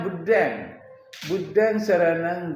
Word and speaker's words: Buddham saranam: Buddham saranang, tulisannya Buddham saranam, tapi cara bacanya Buddhang saranang gacchami, sanghang saranang gacchami.